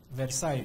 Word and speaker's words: Versailles: And at that very notorious Versailles Treaty, yeah, Versailles, Versailles is the pronunciation.